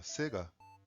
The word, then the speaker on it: Sega: Nome Sega ou na pronúncia japonesa Sega vem de uma abreviação de Service Games.